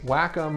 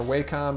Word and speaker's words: Wacom: paper this is from the company Wacom or Wacom depending on how you want to pronounce that they make digital styluses